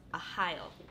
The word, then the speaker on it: Arraial: So this is actually a Portuguese name, and it's pronounced Arraial.